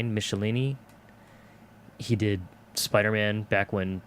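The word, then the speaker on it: Michelinie: I always pronounce it Michelin, but it's like Michelini.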